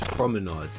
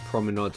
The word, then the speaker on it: Promenade: Top 2 now, and at number 2 I've got Paris Promenade. Yes, I said Promenade and not Promenade. I realised that was the wrong pronunciation.